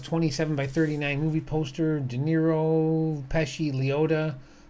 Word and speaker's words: De Niro: Rhymes with gyro, De Niro.